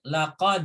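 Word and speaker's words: لقد: Nah, itu kan di situ laqadnya pendek, laqad ya kan.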